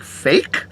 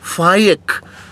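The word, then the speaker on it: Faiq: I was like, fake? She said, no, it's pronounced Faik.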